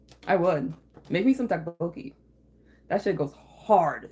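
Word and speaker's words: 떡볶이: Tteokbokki. I actually have some because your boy's obsessed. Sometimes it'll be spelled with a T, two T's at the beginning, but like T and D are kind of interchangeable.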